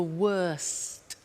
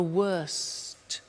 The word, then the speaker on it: worst: the superlative is the worst notice the T bad worse the worst don't forget to pronounce the T and then far the